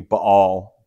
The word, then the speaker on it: Baal: to talk about baale sometimes I've heard this pronounced ball um I think in the original it's going to be B all that apostrophe indicates that there's an unvoiced consonant some languages have consonants